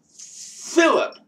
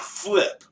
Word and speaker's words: Flip: Flip98R says, my name is pronounced Philip. Not Flip. Even though I spell it Flip.